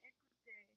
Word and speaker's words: écoute: word regarde or écoute, both you said regarder and écouter, but that's only if there was an R on the end or if there's an accent on the E. Because there's no accent and there's no R. It was just regarde, écoute.